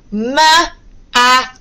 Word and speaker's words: machine: I know it can be really, really quite confusing for you because I know you are all used to seeing these two letters pronounced as ch. But alternatively, they can also be pronounced as sh.